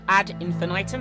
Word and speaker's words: Ad Infinitum: you're doing well this is my playthrough of AD infant item which I'm now pronouncing correctly this is a psychological horror game